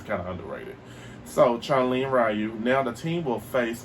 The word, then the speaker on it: Ryu: I finally found out what his name is pronounced Ryu have the skills to throw a hadoken and